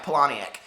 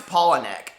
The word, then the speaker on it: Palahniuk: See, I pronounced his name my entire life, Palahniuk, and now it's Palahniuk.